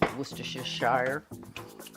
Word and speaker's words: Worcestershire: favorite and Worcestershire sauce in the south you hear pronounced Worcestershire little dab of mustard